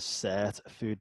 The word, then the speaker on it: Sirtfood: is something called the set a food diet and in my accent that might sound like a totally different words I'm gonna spell it out for you literally it's s ir t dude diet okay and so what